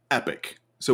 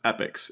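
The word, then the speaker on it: epochs: then after that comes epics and it's spelled e-p-o-c-h not epic although it is pronounced the same so this is a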